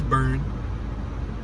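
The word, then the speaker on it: Beirne: It's Burn. Yeah, Burn. It could be Bjorn, but it's Burn. It could be Bernie if you want to pronounce the E, but I think the E silent. So it's Burn.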